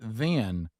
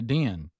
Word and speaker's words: then: and said we also noticed she struggled with the word then. Oh. She would say den. She pronounce it as a D.